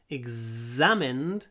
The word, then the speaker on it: examine: examined by detectives because to examine ex hold the Z examined it's a nice stretchy sound examined and to examine